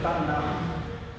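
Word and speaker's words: Tanakh: A gente se escreve Tanac, mas na hora da pronúncia é Taná.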